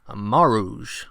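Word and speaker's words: mouros: she says it is maruj which sounds a lot more like mauritania doesn't it so anyway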